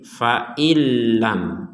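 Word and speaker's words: فَإِن لَّمْ: Di sini nun mati bertemu lam, diperkuat dengan tasydid. Ya, ini kita bacanya dimasukkan. Nah, kalau tidak dimasukkan, jadi awal katanya adalah fa'in. Misalnya kita berhenti di sini, dipotong. Maka kita bacanya fa'in. Kemudian lam, fa'in, lam, fa'in, lam. Itu kalau dipotong. Nah, sekarang digabungkan akan menjadi fa'ilam.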